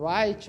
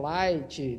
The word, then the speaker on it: Light: Conta a história do Wright ou Light, depende de como você quer pronunciar, que ele, de certa forma, está indignado com o mundo e ele vê um caderno caindo do céu.